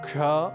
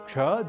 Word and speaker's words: क्ष: की दृष्टि से विशेष पहला संयुक्ताक्षर है क्ष जो बना है क और ष के योग से क और